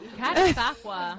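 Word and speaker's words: Catasauqua: It's at the Unicorn Theater, and it's in, if I say this right, Qudsiyya, PA. Catasaqua. Yes. Catasaqua. I can spell it.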